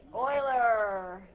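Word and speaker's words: Euler: uclid is a Greek geometry but not pronounced pronounced Oiler okay yes Oiler probably one of the top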